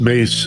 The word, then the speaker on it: Myss: get you there okay it's pronounced mace it's spelled m-y-s-s yeah and that's important